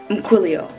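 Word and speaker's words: ymchwilio: Basically, it's spelled Y-M-C-H-W-I-L-I-O. Umquilio.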